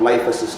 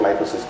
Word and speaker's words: LifeAssyst: and we came up with the concept of Life assist life assist is spelled with the y l i f e